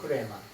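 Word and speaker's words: ῥῆμα: 성령이 주시는 레마의 말씀. 원래는 근데 흐레마죠, 흐레마. 흐레마. 여기에 강식 발음이 있어서 흐레마.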